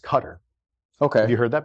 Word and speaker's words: Qatar: That's in, people say Qatar, but I think it's technically pronounced Qatar.